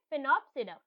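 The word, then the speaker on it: Sphenopsida: SPH, फिनोप्सीडा, right. इसकी pronunciation ऐसी ही है, फिनोप्सीडा.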